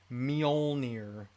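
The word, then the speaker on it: Mjölnir: mjolnir in her hand a lot of people have difficulty pronouncing the word mjolnir meow near hear so many different variations of that but uh that's how you say it meow near there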